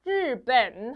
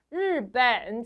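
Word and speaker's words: 日本: 발음해 주시는게 가장 좋아요 르 발음 좀 어렵죠 르벤 한번 더 르벤 좋아요 번 아니에요 르벤 어디래요 일본이 르벤 그다음엔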